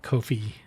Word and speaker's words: Ko-fi: Uh Kofi, I say it like that because it's ko hyphen fi.